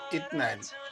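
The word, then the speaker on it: اثنين: 2, আরবিতে উচ্চারণ হবে ইতনাইন।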